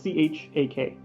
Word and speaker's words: Chuck: Chuck, that doesn't Chuck. sound like a lizard name. So Volk is Voak, Cuz is Kuuz, and Chuck is Chak. Chuck. Not Chuck.